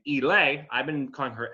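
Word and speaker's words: Ehle: been told this is the correct way to pronounce the name elay i've been calling her ellie for years uh jennifer elay from the 95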